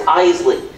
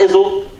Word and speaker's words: Iseli: is the tricky part it's Eisley not insult not isiliye Eisley two syllables Heisley you guys got it yeah